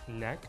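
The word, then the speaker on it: Nek: My menswear is actually called Neck, which is spelled N-E-K.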